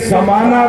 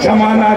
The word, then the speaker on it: زمانہ: و غریب کہ جناب وہ تلفظ کی غلطی کہ زمانہ کو جمانہ کہہ رہا تھا. تو جمانہ الگ چیز ہے، زمانہ الگ چیز ہے. حالانکہ زا اور جیم کا فرق ہے.